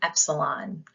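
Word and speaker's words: έψιλον: dog next we have Epsilon which is pronounced e as an echo we also have Zeta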